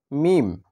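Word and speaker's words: ميم: এরপরে হচ্ছে মিম। মিম মিম। মিম হচ্ছে দুই ঠোঁটের শুকনো অংশ থেকে। দুই ঠোঁটের শুকনো অংশ থেকে উচ্চারণ করতে হবে মিম মিম মিম।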